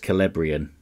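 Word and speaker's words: Celebrían: 12 3103 time stamping celebrian is pronounced calabrian se's and Middle Earth names are mostly sounding like K's yeah okay I'm a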